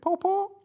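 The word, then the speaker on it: pawpaw: Is it pawpo? That one? Yeah. P A W P A W. How are we pronouncing that to him? P A W P A W. Pawpo.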